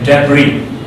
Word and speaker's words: debris: Okay, so there are certain words that are mispronounced, okay, like suppose this is debris. This is debris. Debris. This is debris. Debris. This is debris. Okay, debris, not debris.